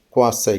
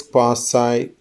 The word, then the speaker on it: quasi: Yes, both are right according to British as well as English, US pronunciation.